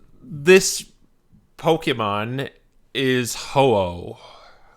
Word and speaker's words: Ho-Oh: Those are both good enough, but that's the reason Henry knew how to pronounce it right. This Pokemon is Ho-Oh.